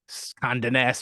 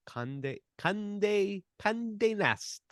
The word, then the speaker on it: Condé Nast: We've figured this out, but it's spelled Conde with the apostrophe over it, and then Nast Traveler. Conde nest. I don't know. Condé Nast, which sounds like Communist Traveler.